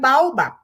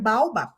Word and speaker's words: baobab: You talk about the African baobab.